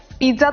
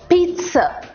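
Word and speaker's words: pizza: ए क्या होता है पिज्जा तो नहीं बोल रहे ना आप अगर बोल रहे हो तो यानी कि आपने अभी तक की क्लासेस अच्छे से अटेंड नहीं किए पी आई डबल जड ए इज पीस ज की तो आवाज ही नहीं है स है पीस हां और ये एक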